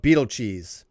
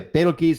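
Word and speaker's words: Betelgeuse: Has somebody accepted pronunciations? I call it Beetlecheese. By the way, Beetlegeese is brightening.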